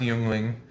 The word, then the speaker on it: Yuengling: yangling was started in 1829 by David Gottlieb juling pronounced youngling uh from uh aldingen near Stuttgart Germany which